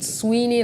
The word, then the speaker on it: Sweeney: SWEENEY, like sweet. Yeah, sweet.